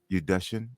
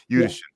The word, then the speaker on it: Udashen: Did I say it correctly again? You did. Udashen. Yeah. Udashen.